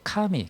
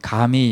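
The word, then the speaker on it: 神: 카미 이렇게 발음하는데, 이 가미 이렇게 발음해도 될 것 같아요.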